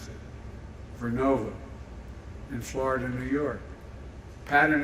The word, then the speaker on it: Vernova: Arcosa makes wind towers that's going to go into turbines made by GE Verona. Excuse me, I mispronounced it. Vernova in Florida, New York.